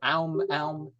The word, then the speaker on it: aum: shut my eyes and See, I didn't even say it right. That's not really proper. It's so aum. It's not but people simplify it.